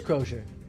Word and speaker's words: crosier: do you pronounce that i said grocer but that's not quite in that it is closure okay i pronounced it right hooray for me yay